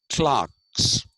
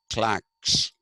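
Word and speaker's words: calque: that uh you know there are clocks uh or actually Clacks uh CL q e a clack is a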